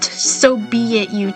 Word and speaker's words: Sobeitut: So it's pronounced Sobeitut. I don't know how to say that like that, but yeah, it's Sobeitut.